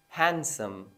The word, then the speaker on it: handsome: other word is handsome handsome the D is going to be dropped in this word and that's how it's